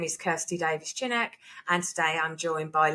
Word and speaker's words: Davies-Chinnock: Davies-Chinnock is, it's normally people go Chinook, like the helicopter, and I go, it's close enough.